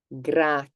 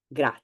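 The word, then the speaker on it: grazie: you thanks um and you have to pronounce each vowel and said so the a which doesn't present any problems however the last two for some reason do the first vowel you have here is e the last one is e gra gra gra it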